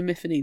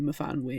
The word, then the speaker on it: Myfanwy: Bronwyn purposely says to Miffany that you say your name wrong, it's supposed to be Myfanwy, and she's like, oh, okay, I've always said my name wrong then.